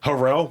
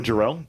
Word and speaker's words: Jarrell: in the movie Chandler remember he kept saying Harrell why do you keep messing up mispronouncing my name man yeah I don't know about it Chandler Jarrell that's a white name because that's what they